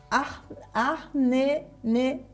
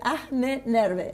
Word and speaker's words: Ahnenerbe: Ahnenerbe, así, Ahnenerbe, ahí está, bien pronunciado.